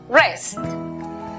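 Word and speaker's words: wrest: La W antes de R al comienzo es muda. Por lo tanto, la pronunciación para la palabra arrebatar es rest.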